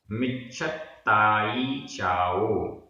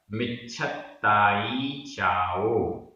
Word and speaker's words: मिच्छत्ताई: मिच्छत्ताई चाओ, आधा पुरता आधा छ, मिच्छत्ताई चाओ।